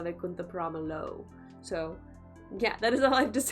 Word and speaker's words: Vaikunthapurramuloo: scene in Allu Vaikunthapurramuloo, or Ramaloo. Is that how you say it? Ramaloo? I always want to say Lu, because that's how we say L-O-O. But I'm pretty sure it's Allu Vaikunthapurramuloo.